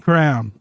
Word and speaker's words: crayon: Randy, as somebody from Ohio, how do you pronounce Crayon? Don't disappoint me. Crown. Okay. Fuck! Jim, Crayon. crayon. Okay. Cody, how do we pronounce that word? Chicago accent says crayon.